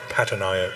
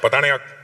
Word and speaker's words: Patanayak: Say it properly. Not Patanayak. Patanayak.